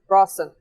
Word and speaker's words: Hrafn: Rawson. It's not. Rawson. It is spelled Hrafn. Okay. Rawson. Okay. Rawson. Like the sun god, Ra.